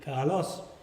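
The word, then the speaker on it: καλός: a fifth bar bum so when you said a word like beautiful Carlos your voice rose on the second syllable Carlos like that of course it's become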